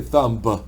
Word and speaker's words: thumb: Remember, the B is silent, so don't say thumb, it's thumb.